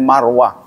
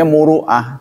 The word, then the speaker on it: muruah: mah dan Marwah ya Jadi sebenarnya muruah Cuma nulisnya salah muruah muruah itu kan kalau di Indonesia kan kalau enggak teliti bacanya Marwah maruah atau Marwah muruah muruah atau maruah itu yang benar bukan Marwah kalau Marwah nama Bukit